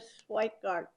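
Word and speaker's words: Schweikert: I had a virtual meeting with Caroline Oakman from Congressman Schweikart.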